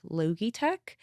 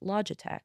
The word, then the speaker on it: Logitech: I think like the very first one that I did was like Logitech. It's not pronounced Logitech. It's Logitech. Logitech.